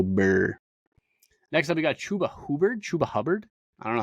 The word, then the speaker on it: Chuba Hubbard: Next up, we got Chuba Hubbard.